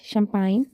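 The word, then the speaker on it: champagne: देखें इसके design align शंपान फॉरन N sign इसमें देखें तो जहां जहां भी जी एन से पहले आया है वह साइलेंट होगा नेक्स्ट आ जाता है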